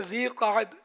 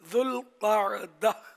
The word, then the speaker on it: ذوالقعدہ: اسے ذی-القعدہ بھی کہا جاتا ہے. ذوالقعدہ 2 لفظوں سے مل کر بنا ہے، ایک ذو اور دوسرا القعدہ. اس کا درست تلفظ یہ ہے ذوالقعدہ.